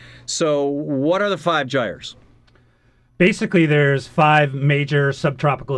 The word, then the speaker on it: gyre: He's with the five, is it pronounced Gyres, Stiv? Depends on where you are. Gyres. Gyre or Gyre will work. Which is English and which is American? American is Gyre, for sure.